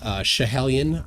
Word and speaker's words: Schiehallion: So what they used is a mountain called Schiehallion, I believe is the pronunciation, which is in Scotland.